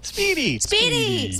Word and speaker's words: SPDY: Spitty? I don't know. Speedy! Yay, we agree on that pronunciation.